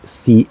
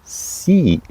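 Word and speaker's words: sie: and in German it's simply three letters i c h pronounced which is a sound that might um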